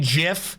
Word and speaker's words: GIF: the insane shift hey the insane jiff since that's how gifs are pronounced apparently that I've just now